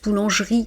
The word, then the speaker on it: boulangerie: Je dis pas ouvert et euh en plus boulangerie qui est un e après le i, je ne prononce pas le e.